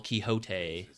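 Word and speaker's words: Quixote: Uh, you kind of like live in a fantasy world based on Don Kiote, the uh literature icon, but the pronunciation is different from English to the original Kiote.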